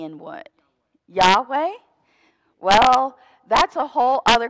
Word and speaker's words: Yahweh: german to get from Yahweh to Jehovah there's a whole long linguistic travel there to get from Yahweh to Jehovah but the syllables are yeah y-yeah way so Deuteronomy 6 5